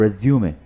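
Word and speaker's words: résumé: तो वो कहलाता है रेज्यूमे, राइट, रेज्यूमे। यहाँ पर आप ई को प्रोनाउंस करेंगे, याद रखिए।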